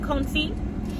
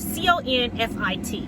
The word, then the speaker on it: confit: about confine um so I did a chicken conceit and it turned out delicious um you could come see anything um I posted a video on Tick Tock uh chicken confi recipe um and Confused spelled c-o-n-f-i-t apparently the tea is silent so the good